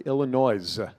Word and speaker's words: Illinois: this was purchased in illinois a newscaster and my friend just blasted this saying how does a professional newscaster not know that that s is silent right maybe they're not from